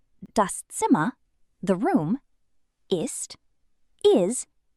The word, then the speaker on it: das: The s at the end of dos is a soft s, not a z sound. Ds. Not daz. dus.